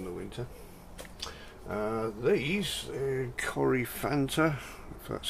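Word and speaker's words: Coryphantha: look at in the winter uh these uh Corey Fanta that's how you pronounce it these pods have been on here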